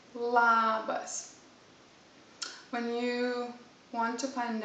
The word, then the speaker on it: labas: somebody you would say labas the important thing this word is to pronounce the sound really openly labas for the moment don't